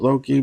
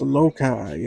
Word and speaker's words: Alocai: Not Loki. It's spelled Loki, but it's Alocai, and I hate it.